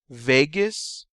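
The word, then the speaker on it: vagus: to deal with digestion Vegas rhymes with anus and you use this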